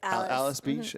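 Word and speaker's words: Alys Beach: Alice Beach. It's spelled like Alice, but it's pronounced Alice.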